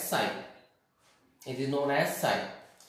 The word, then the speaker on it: psi: This is known as PS, here P is silent, is known as sign.